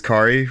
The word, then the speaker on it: Kaare: It says Kaare rhymes with Atari.